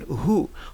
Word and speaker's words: who: So, ici, on prononce seulement le H, on ne prononce pas le W.